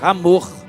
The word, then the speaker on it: Hamor: Já havia um povo ali naquele lugar, eram os siquemitas, ou a família de Amor com H, poderíamos pronunciar Hamor.